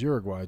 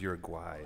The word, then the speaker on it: Uruguay: No, he says Uruguay, like Jamiroquai or something.